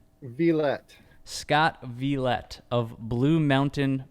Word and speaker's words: Villette: Yes, and today we are speaking with Scott, is it Violet? How do you say the last name? Villette.